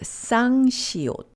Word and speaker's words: 쌍시옷: The next double consonant is called 쌍시옷 or the double 시옷, a tensor version of the single consonant 시옷. It's pronounced like strong S.